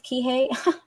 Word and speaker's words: Kihei: I did say it right so it is Kihei nice oh PJ I didn't know you knew